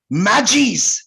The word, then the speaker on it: Magi: Priests, जिसका नाम था मैजीज। उन लोग मैजी प्रोनाउंस करता है, लेकिन स्पेलिंग है MAGI, जिसे हम लोग मगी कहते हैं।